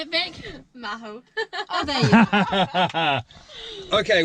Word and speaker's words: Magho: Magho.